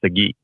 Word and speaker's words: Sagi: Oh, is it pronounced Sagi or Saji? It's pronounced Sagi.